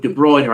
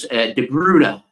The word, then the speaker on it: De Bruyne: I always go with de bruyer I know it's pronounced uh in Belgium as de Bruner I think isn't it de Bruner is how uh uh